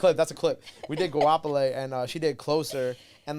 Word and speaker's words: Goapele: And that's how you say her name? It's not Gopelli? It's not Gopelli? No, it's not. It's Goapele. I really thought it was Gopelli.